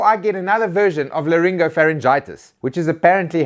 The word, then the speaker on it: laryngopharyngitis: Let's just start with the URC, before I get another version of laryngopharyngitis, which is apparently how you pronounce that.